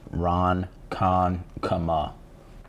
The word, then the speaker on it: Ronkonkoma: Ronkonkoma. Ronkonkoma. Like Kamala, but Kama.